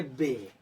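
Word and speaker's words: bay: एक तरह उच्चारण करेंगे। तो यहां पर बी ए वाई है। तो इस वर्ड को हम पढ़ेंगे बे।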